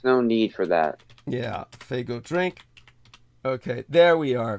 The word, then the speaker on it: Faygo: um Spanish drink that that but no the Faygo I'm thinking of then you haven't heard of